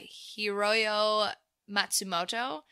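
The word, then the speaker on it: Hiroyo Matsumoto: as the lady destroyer Hiro yo Matsumoto yeah that's right actually good job I just read it phonetically but we've seen her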